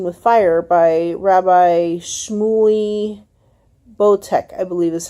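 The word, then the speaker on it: Boteach: name of parenting with fire by Rabbi Shmuel bo tech I believe this how you pronounce his last name bo T EA CH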